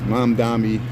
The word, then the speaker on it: Mamdani: That's Mamdani.